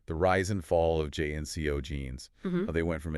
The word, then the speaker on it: JNCO: to talk about is jnco jeans jnco yeah pronounced jeno you know those jeans